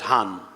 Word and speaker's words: Hagan: which is very interestingly in the modern times is pronounced as Han if we speak about